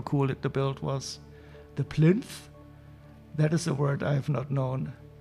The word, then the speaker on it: plinth: Busts of the king and queen on marble plinth. That is hard word to pronounce, the TH at the end.